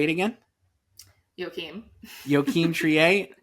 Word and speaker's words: Joachim Trier: Joachim Trier. Joachim Trier, who directed The Worst Person in the World. I'm The Worst Person in the World cuz Say it again. Joachim. Joachim Trier, not going to get that right for weeks.